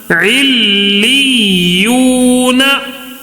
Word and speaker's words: علیون: واو مدہ ہوگا، اس کے لیے کھینچ رہے ہیں، ایک الف کھینچ کے پڑھنا ہے، ٹھیک ہے۔ علی یو، نون زبر نا، علیون، ٹھیک ہے۔ ایک مرتبہ